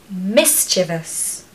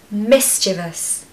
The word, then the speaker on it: mischievous: confident when you say thorough number nine mischievous mischievous mischievous a lot of people really can't pronounce this word I hear all kinds of